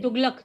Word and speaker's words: Tughlaq: Ma'am ये यहाँ पे ना तुगलक को अपन लास्ट में जी प्रोनाउंस करेंगे क्या के प्रोनाउंस करेंगे? तुगलक, तुगलक.